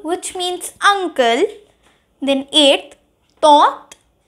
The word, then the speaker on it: tante: Then eighth, tante. The N has been silent, which means the aunt.